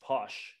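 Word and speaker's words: pox: And of course, alcohol, posh, P-O-X, pronounced posh, sometimes spelled P-O-S-H, is basically moonshine, corn whiskey.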